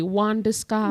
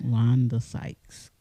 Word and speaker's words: Wanda Sykes: it literally says it right here biggie shorty W disguise W disguise it literally says that is that